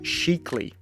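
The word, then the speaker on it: Scicli: we've been assured by the locals that it's pronounced sheekly bet you didn't see that coming from there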